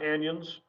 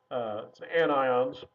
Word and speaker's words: anions: have negative ions which are called anions again not anyons anions and so these are